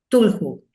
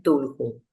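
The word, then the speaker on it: Cthulhu: publicó los mitos de Tulju. Quiero aclarar algo para los amantes del OPCRA. Nunca voy a pronunciar bien tulhu. ¿Por qué? porque tiene que tener un sonido gutural que a mí no me sale.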